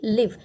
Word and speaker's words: live: Spelling same है लेकिन pronunciation different है और मीनिंग भी डिफरेंट है. Next example is LIVE लाइव एंड LIVE लिव.